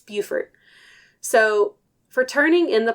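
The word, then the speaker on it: Beaufort: that's bord and it's so it's bord North Carolina and Buford South car Carolina but they're both spelled the same way I just thought that was why not it was just like how to pronounce this because I don't want to say it wrong it's Buford so for turning in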